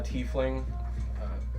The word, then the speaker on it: tiefling: all right uh what's the right way to pronounce my race tafeling tiffling or safely yeah I'm a tiefling I have Ash Gray skin with uh blue